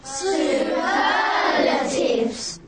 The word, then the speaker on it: superlatives: it's a fun suggestion we stress the second syllable so it's stives say it superlatives fantastic is a superlative